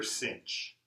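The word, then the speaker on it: sinh: can't say sine or so everybody says here cinch so this is called cinch of X and this is caution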